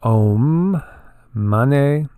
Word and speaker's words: Om Mani: a lot of fun and so it's it's pronounced om money and it has various meanings one more literal